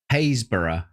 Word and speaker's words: Happisburgh: Haysborough.